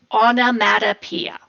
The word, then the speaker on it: onomatopoeia: you have automatic Pia and that's how you say it onomatopoeia okay this is a